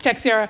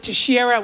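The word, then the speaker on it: Teixeira: It's Texer. Texer. Nationally. They pronounce it Terara, which I guess is a Brazilian Portuguese pronunciation.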